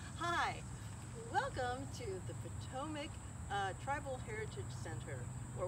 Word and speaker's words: Patawomeck: and mary so the potomacs or the potowamics as it's spelled but it's pronounced potomac um here you can